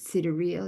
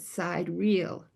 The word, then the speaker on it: sidereal: I like this word sidereal because if no one has told you that you would pronounce it sidereal, you would call it side reel.